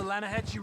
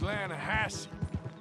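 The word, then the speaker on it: Lannahechee: The other day, I rode down to the Lanahatchee River. I caught some beautiful steelhead trout. You mean the Lanahatchee River? No. The Lanahatchee. It runs right near here. Yeah, but it's pronounced Lanahatchee.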